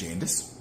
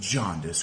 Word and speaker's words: Jaundice: Good to have you with us, Jandis. Thanks for having me, Hucker, and it's actually pronounced Jaundice Growins.